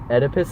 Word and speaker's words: Oedipus: Oedipus. That's how you pronounce yeah, it.